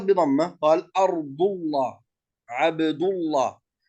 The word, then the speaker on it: الله: يعني لم لفظ الجلالة إذا سبقت بفتحة أو ضمة فخمت، ولكن إذا سبقت بكسرة رققت، مثل كلمة بسم الله، من عند الله، قل اللهم، هكذا. إذن اللام لفظ الجلالة تتبع حركة ما قبلها. إذا كانت الحركة فتحة أو ضمة لام لفظ الجلالة فخمت، وإذا كانت الحركة كسرة فلام لفظ الجلالة مرققة.